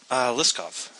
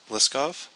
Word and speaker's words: Liskov: Liskov. I'm assuming. Did he? I'm assuming. And what was his name? Liskov. And how do you pronounce it? Liskov.